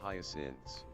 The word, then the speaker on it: hyacinths: Pronounced hyacinths.